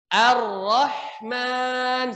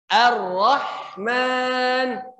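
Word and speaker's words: الرحمن: Ro bahasa Arab itu harus ada getarannya. Coba, ro. Ingat tadi cara membacanya ya, buka mulutnya. Ro. Jangan monyong, ro. Nah. Ar-Rahman, silakan. Huruf H-nya dialirkan. Ar-Rahman.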